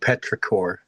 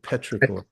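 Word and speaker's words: petrichor: It's actually called Petraore is what that's called. I'm looking it up. Yeah, it's a my new word for the day. Petraore.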